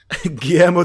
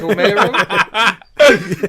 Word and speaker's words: Guillermo: Guillermo? Yeah, that's right. Yeah. It's Guillermo.